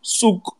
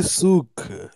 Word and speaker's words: Seok: It's Yoon Seok Shin, right? Ah, Bravo. no, you That's can't say souk.